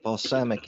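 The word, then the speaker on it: Balsamiq: i can find it so balsamic if you're not familiar with it is spelled b-a-l-s-a-m-i-q and it is a wireframing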